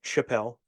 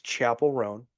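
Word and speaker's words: Chappell Roan: To me, it reads like Chappelle, but apparently it's Chapel Roan.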